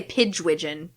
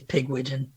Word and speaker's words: Pigwidgeon: yeah i always say pidge widgeon pagevision okay that's a better pronunciation what how do you pronounce it matt it's pigwidgeon nickname is pig yeah